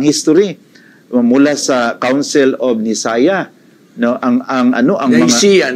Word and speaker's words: Nicaea: mula sa Council of Nicaea, no, ang Nicaea, Nicaea, no, ang right pronunciation Nicaea, the Council of Nicaea.